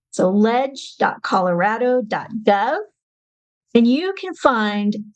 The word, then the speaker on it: leg: website um it's just leg actually it's pronounced ledge as in short for legislator legislative so ledge.